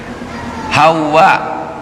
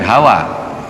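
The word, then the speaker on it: حواء: bisa suami bisa istri Hawa bilmad jadi pengucapan yang betul itu bukan Hawa dia pakai ha ha wau di tasdid ada alif dan hamzah hawa hawa itu yang betul bukan Hawa Adam dan Hawa kan gitu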